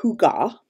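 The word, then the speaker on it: hygge: made if you're interested i believe that it's pronounced hooga who got headbands um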